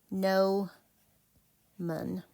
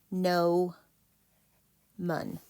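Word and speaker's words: gnomon: to break the syllables no man so it's pronounced no man nman the Gman is that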